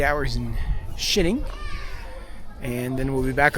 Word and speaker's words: Xining: How do you say it? Xining. Shining. Shining, China.